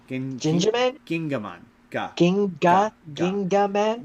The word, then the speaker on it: Gingaman: So a thing I so wait that was That's Ginjaman. Gin Ginjaman? Gingaman ga ga Gingaman? with the G sound.